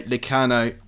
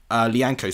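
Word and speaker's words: Lyanco: It is well blocked by Licano. And it's going to be... Lianco, sorry, that's how you pronounce it.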